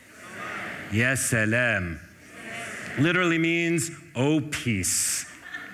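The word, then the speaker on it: يا سلام: It's not Asalam, but Salam. Yassalam.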